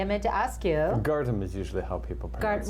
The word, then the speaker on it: Gardham: do you pronounce it I guard him is the way we kind of did it but if you get to guard him yeah you want to say guard him but yes okay so